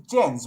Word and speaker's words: Jens: But yeah, it's Jens, right? uh, yeah, it's um, spelled Jans? with a J, but pronounced with a Y. Right, So Jens then.